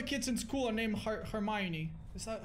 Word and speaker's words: Hermione: none of the kids in school are named hermione is that how you pronounce it yeah ah it's a strange name